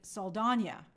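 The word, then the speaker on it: Saldaña: Zoe Saldana has requested her name be spelt and pronounced properly, like Saldana. Oh, well, thank you. And with the tilde, kind of like Tandaway Newton.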